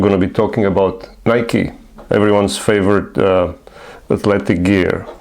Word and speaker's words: Nike: And that should also clarify the corre correct pronunciation of the name Nike. It actually it's actually Nike.